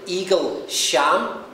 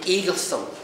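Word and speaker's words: Eaglesham: Eaglesome, if you spell it out, I'm so sorry to do this, it spells out like Eagle Sham, but you say Eaglesome.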